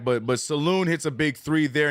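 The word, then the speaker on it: Salaün: Charlotte Hornets rookie T I cannot Saloon like like a saloon back in the day like a bar I hope I'm saying his name right but but Saloon hits a big three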